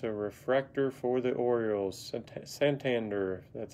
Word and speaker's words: Santander: Santander, that's how you say his name.